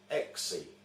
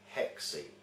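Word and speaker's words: έξι: In the Greek language, the word 6 is pronounced exi, mispronounced by witches in the English language as hexi.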